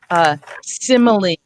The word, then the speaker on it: simile: So we do have some words where the E is pronounced. We have apostrophe, simile, recipe. We have a few words. There's maybe a dozen common words in the English language where the E is pronounced. And then there's ones that we run into. Apostrophe, hyperbole. Those are Greek. I think they're Greek influenced words.